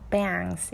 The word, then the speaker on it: bangs: bangs 이렇게 좀 크게 큰 A예요.